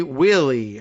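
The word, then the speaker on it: Wehle: vindictive prosecution, said Kimberly Wheely, I'm going to guess this is the pronunciation of W-E-H-L-E, a professor at the University of Baltimore School of Law who's an expert on the pardon power.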